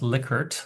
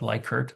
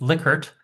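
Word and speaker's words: Likert: Well, it's pronounced licert, not liker. People always say lyker. It's lickert.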